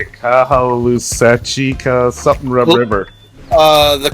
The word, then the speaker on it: Caloosahatchee: on the, how do you say it, Kahalusachika something river. The Caloosahatchee River.